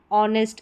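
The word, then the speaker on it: honest: यहाँ पर अलग से, यहाँ पर एच साइलेंट है।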